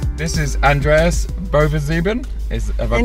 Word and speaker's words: Bovensiepen: this is Andreas Bovensiepen. Have I pronounced that correctly?